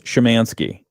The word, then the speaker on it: Szymanski: And my special guest this morning is Shamansky. I get that right. You did. I've heard many iterations of the pronunciation my name Sz YM.